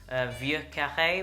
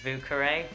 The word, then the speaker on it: Vieux Carré: the cocktail if you speak French the French pronunciation would be via cafe which means old square or old quarter but the Creole pronunciation is VUCA ray so don't make any mistakes there I have